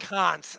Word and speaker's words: Kant: It's pronounced Kant.